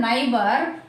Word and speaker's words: neighbour: ఇక్కడ NEIGH we won't pronounce silent letter. BOUR, ఈ OU అనేది మనం ఆగా పలుకుతాం కదండి.